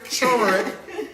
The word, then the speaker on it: turmeric: Turmeric. And we ghetto turmeric, even though it's the R, even though there's an R before the M. So it should be turmeric.